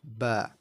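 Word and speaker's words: ب: So this is ba. Very similar to the sound that a sheep makes.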